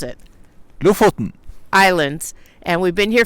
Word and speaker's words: Lofoten: He knows how to pronounce it. Lofoten.